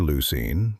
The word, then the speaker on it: leucine: That's spelled L E U C I N E pronounced leucine.